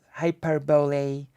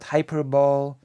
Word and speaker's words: hyperbole: a good idea to pronounce the e at the end of hyperb hyperbole hyperbole hyperbole I don't know I don't I I I actually assume that hyperball and hyperbole were two different words Hyperbole and hyperball I